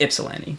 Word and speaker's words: Ypsilanti: city that I lived Ypsilanti. in for most of the time of. Yeah. What? Sorry. Ypsilanti. Very close. YPSILANTI. It's just Ypsilanti. There's no y sound.